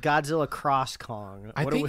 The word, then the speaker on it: Godzilla x Kong: I I just think I think the x is silent it's like that anime Hunter Hunter which is like but it says like Hunter x Hunter something so so yeah